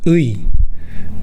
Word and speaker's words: ㅢ: So, pronounce “ㅡ” and then “ㅣ” in sequence. That’s how to pronounce “ㅢ”.